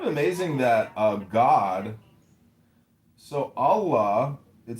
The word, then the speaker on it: Allah: The god in Arabic will be Allah pronounced Allah or Allah which is simply God with a capital G.